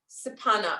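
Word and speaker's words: kshepana: So the mudra that you would use for Kali is called Sapana mudra, which is spelled, which is K-S-E-P-A-N-A. Sapana, but so it's a silent K.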